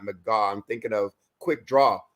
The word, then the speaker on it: McGau: um and I think I just mispronounced your last name as McGraw not McGaw I'm thinking of Quick